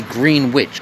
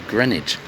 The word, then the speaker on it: Greenwich: it's going to say green which because it looks like green witch doesn't it but we don't pronounce the w so it's pronounced as greenwich like there's no w there but but there is